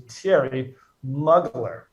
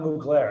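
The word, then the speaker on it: Thierry Mugler: i had someone on google they have the pronunciation guide it's a terry muggler it's not mu glare it's been said so many different ways terry moogler terry mugley the pro pronunciation is t airy muggler and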